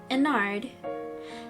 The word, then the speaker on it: Ennard: But little did Mike know that CB was planning to scoop Michael on night 5 with Ennard.